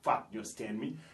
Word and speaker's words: fat: nous avons fat et on prononce toujours la dernière lettre en anglais on dit pas fa B fat fat ça veut dire gros